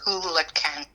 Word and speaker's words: Hoolachan: Uh, it's Scottish and it's Hulacan. Hulac. So, it's a silent H.